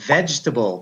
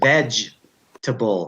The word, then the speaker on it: vegetable: And same with vegetable. People say vegetable. Non-English speakers, they say vegetable.